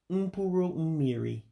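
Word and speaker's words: mkpụrụ mmiri: So again, the pronunciation of the letters is different in Igbo. So the I's there, which looks like eyes, again, that's the English pronunciation, not the Igbo pronunciation of the letters. That I there would have an E sound. So that's why you hear me saying Um-Pue-Rue Um-Mee-Ree.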